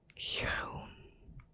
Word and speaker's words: groen: Now, the oo sound we have here, it's the same as a double O in English, like in good.